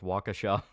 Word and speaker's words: Waukesha: And just so you know, it's pronounced Waukesha.